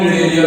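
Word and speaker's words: Cnidaria: इसको हम निडरिया भी बोलते हैं। क्या बोलते हैं? निडरिया। सी साइलेंट होता है।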